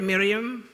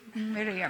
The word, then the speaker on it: Meriam: Probably Miriam. Meriam. Roll your R.